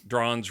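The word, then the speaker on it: Dronge: Drange rhymes with orange.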